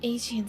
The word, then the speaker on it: Aegean: Oh, Aegean Sea, that's how you pronounce that.